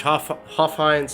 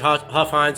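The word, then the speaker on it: Hofheinz: very beginning with judge hoff heinz i'd probably butchered that name too i'm notorious names it's judge huffines who is really the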